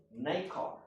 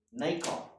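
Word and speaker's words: nacre: Nou, ek moes gaan Google het hoe pronounce hulle daai naam. En hulle pronounce hom Nykar. Nykar.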